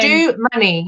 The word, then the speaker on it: Domoney: yeah teddy yeah yeah it's it's do money if you're trying to